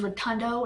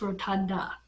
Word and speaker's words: Rotunda: I'm not mistaken I I said his name was rotundo it's rotunda with an a um like the place of rotunda because they've spelled it